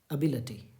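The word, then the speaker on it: ability: बहुत खूबसूरत शब्द य एबिलिटी नहीं है लिटी नहीं होता है बल्कि लट होता है अलटी देखिए अ ब इ दिस इ अभी अभी अभी लिटी नहीं है बल्कि अभी लट है स्ट्रेट लिखेंगे अलटी तो अ के लिए क्या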